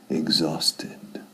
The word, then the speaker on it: exhausted: Exhausted. I just saw Harriet again. And remember, I told you she was having problems? Well, she looked exhausted. Yeah, cuidado con la pronunciación. Exhausted. Es como EKS.